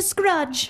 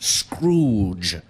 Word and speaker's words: Scrooge: more generous than Mr Marley except for Mr scrudge Scrooge Madam it is pronounced Scrooge and no one says that well I'm sure